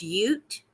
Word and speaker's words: Ute: you're right I mean I believe it's pronounced Ute it's UT the One Tribe and then